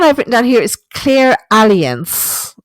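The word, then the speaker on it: clairalience: written down here is clear alliance it's not aliens like the insurance company it's a l i e n c e maybe i'm mispronouncing it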